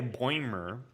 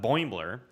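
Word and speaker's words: Boimler: po who would play boymer uh boimbler um boy i have to say it like a boiler uh if you have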